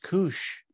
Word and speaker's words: Coos: meeting chat Diane lazarge Coos is pronounced Kush are there consequences for